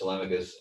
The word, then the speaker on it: Telemachus: members of our community which we call tmus the the pronunciation is tmus and uh you know